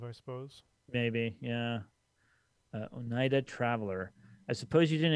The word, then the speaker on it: Oneida: as you move i suppose maybe yeah uh oneida traveler i suppose you didn't expect to see and am i pronouncing that correctly oneida yeah out this way i am headed west